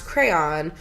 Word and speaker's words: crayon: With one syllable rhymes with man. Crayon. I honestly hate that. Oh my god. They use rose art crayons, let's be real. With two syllables sounds like crayon, which is me. Crayon. With two syllables where the second syllable rhymes with dawn. Crayon. What's the difference between crayon and crayon? I guess you're I'm a crayon. I'm an yeah. And sounds like crown, which I've also heard.